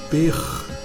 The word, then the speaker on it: pr: Observe que são somente duas consoantes, a letra P e a letra R, e conforme aquela regrinha básica, quando não dá para pronunciar, coloca-se um E entre as consoantes. Então o som ficaria Per, Per, Per.